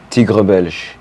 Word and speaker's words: Tigre Belge: If you guys have been checking out my posts, his IG name is Tigre Belge. Oh my God, I was gonna ask. How do you pronounce it?